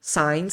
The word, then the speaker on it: signs: essencial Vital signs ok signs aqui vocês meio que ignoram esse G tá Vital sign sinais vitais